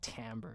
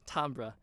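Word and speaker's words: timbre: you a pronounced it I hate the way Americans say it's like Tambor it's on so Tambor's it sound so uneducated Tom bruh okay so what is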